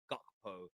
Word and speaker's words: Gakpo: lot of things Cody gecko here uh talking about he's I've actually been told it's Cody gotpo uh it's how you pronounce his name I'm gonna try and